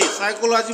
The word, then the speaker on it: psychology: साइकोलॉजी मतलब होता है मनोविज्ञान। तो इसमें हम देख रहे हैं PSYCHOLOGY, साइकोलॉजी में यहाँ P साइलेंट है।